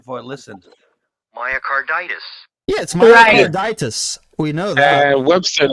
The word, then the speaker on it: myocarditis: in English is pronounced myocarditis it's the same it's the same it's the same suffix as arthritis tell me how you're